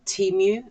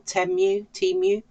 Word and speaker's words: Temu: They were actually from Temu, I think you pronounce it, or Temu.